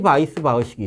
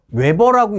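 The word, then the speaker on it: Weisbach: 달시 바이스 바흐식이 있어요. 얘가 달시 바이스 바흐식이에요. 얘가요. 웨버라고 읽는 분들이 있어요. 근데 웨버라고 읽으면 안 돼요.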